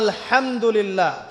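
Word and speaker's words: الحمد لله: আপনি পড়ছেন আল্লাহু আকবার, আলহামদুলিল্লাহি রাব্বিল আলামিন, এই তো আপনি পড়ছেন আলহামদুলিল্লাহ।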